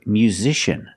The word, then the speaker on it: musician: racial Injustice or with this word musician we see the letter c before that vowels I a so the C makes the sh sound like shoes and show musician musician a lot